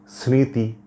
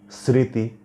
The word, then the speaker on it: স্মৃতি: না স্মরণ উচ্চারণ হচ্ছে স্মৃতি দন্তস এর সাথে ম ফলা আছে কিন্তু ম ফলার কোন উচ্চারণ হচ্ছে না উচ্চারণ হচ্ছে স্মৃতি তারপরে হচ্ছে কর্তব্য এখানেও